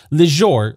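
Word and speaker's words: Lejzor: Just so you know the spellings of these, Lejor, or Leonard, is spelled L-E-J-Z-O-R.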